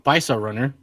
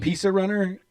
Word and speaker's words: Paisa Runner: So this one came in from Paisa Runner. Are we sure that's how it's pronounced? That's how it's pronounced. It's not Pizza Runner?